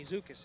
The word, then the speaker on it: Zukis: And number 67 is Amy Zukis, it's pronounced.